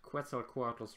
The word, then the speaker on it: Quetzalcoatl: I was never aware that Quetzalcoatlus rhymes with pretzel.